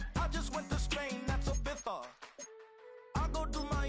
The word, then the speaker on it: Ibiza: I just went to Spain, that's a bither. Ibiza. Yeah, it's pronounced Ibiza, actually.